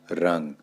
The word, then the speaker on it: रंग: है नासिक के होगा उसका प्रयोग मुख और नाक दोनों से होता है तो इसलिए यहां पर इसका उच्चारण होगा रंग इसी तरीके से पंकज